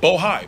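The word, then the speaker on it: Bohai: Seneca bojay I want to make sure I pronounce it right bohi b-o-h-a-i and the list goes on and on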